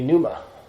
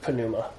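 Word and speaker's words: πνεῦμα: nominal senior would be Numa or Ponemah would be how most people pronounce it but more english speakers so we just forget the p but uh Numa would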